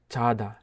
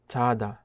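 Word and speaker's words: 자다: Korean ভাষায় ঘুমানোকে বলা হয় চাদা। চাদা। চাদা অর্থ ঘুমানো। এটা চাদাও হবে না, ছাদাও হবে না, উচ্চারিত হবে চাদা। অনেকটা বর্গীয় জ এবং ছ এর মাঝামাঝি একটা উচ্চারণ করে থাকে।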